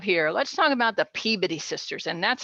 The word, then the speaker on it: Peabody: do we have here let's talk about the peabody sisters and that's how you say it folks